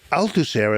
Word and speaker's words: Althusser: So, I Althusser as a philosopher tried to bring a version